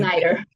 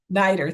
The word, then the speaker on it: Nider: I'm sorry, I don't know if I'm pronouncing your last name properly, whether it's Nider or Nider, please correct It's me. Nider. Nider, thank you.